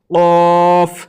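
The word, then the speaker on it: ق: কফ এটি হচ্ছে কফ আমরা অনেকজনই এই কফ অক্ষরটিকে ভুল করি এই কফ অক্ষরটি এবং কাফ অক্ষটি আপনারা এই দুটি লক্ষ করেন একটি হচ্ছে কফ আরেকটি হচ্ছে কাফ প্রথমটি হচ্ছে কফ এই প্রথম অক্ষরটি হচ্ছে কফ আর এই দ্বিতীয় অক্ষরটি হচ্ছে কাফ। তো এই যখন এই অক্ষরটি বের হবে তখন হালাক থেকে একদাম এইভাবে একদম গলার ভিতর থেকে বের হবে।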